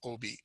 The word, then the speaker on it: Obey: He pronounces his name Obey.